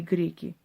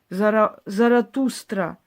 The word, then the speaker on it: Заратустра: Именно так его называют в Авесте, поэтому мы произносим это именно так, поскольку существуют различные варианты произношения. В любом случае, армяне и греки называли его Зороастром. Заратустра или Заратуштра — именно так это чаще всего звучит на Востоке.